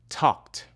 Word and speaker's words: talked: Talk ends with k. The sound k is voiceless. K. We pronounce the ed ending t. Talked.